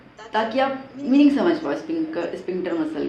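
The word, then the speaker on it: sphincter: Okay, अब कहीं कभी कभी आपको कोई प्रोनाउंस करेगा स्पिंचर मसल, कोई कहेगा स्पिंक्टर मसल। ठीक है, तो प्रोनाउंसिएशन में भी वेरी डिफरेंट थोड़ा हो सकता है, कहते हैं स्पिंक्टर मसल।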